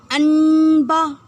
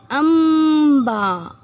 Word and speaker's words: अम्बा: अनबा तो नहीं पढ़ सकते। अब जरा म, आधा माँ का उच्चारण करके देखिए, अम्बा। जी हाँ, इसमें आधा माँ का उच्चारण हुआ।